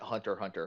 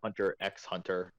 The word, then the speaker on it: Hunter x Hunter: I'm so glad that Hunter Hunter has come back okay or Hunter x Hunter if you pronounce the X okay give give me